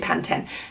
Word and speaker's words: Pantene: one to another like it's always been panten the adverts were said always said panten so why would you change it to Pantene tell me I don't